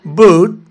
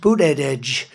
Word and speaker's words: Buttigieg: You know, years ago, I said, how do you pronounce that damn name? And they said, Buttigieg, the word edge. That's the way it's pronounced, Buttigieg.